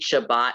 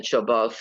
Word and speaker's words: Shabbat: i'm gonna jump okay thus for example we read shabbat and nitzva rather than shobos and mitzvot um sophardic pronunciation distinguishes